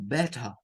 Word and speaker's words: better: ahí, se dice como better, better, better. Bueno, de esa palabra podemos sacar dos cosas. Los británicos no pronuncian la letra R del final y lo dicen como better.